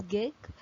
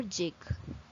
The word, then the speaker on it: gig: of 4 next one this word is pronounced in two ways that is gig or jig gig or jig small